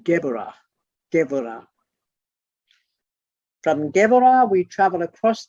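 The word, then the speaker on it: Geburah: it's spelled g-e-b-u-r-a-h but a b in the middle of the word is pronounced v so it's geborah from geborah we travel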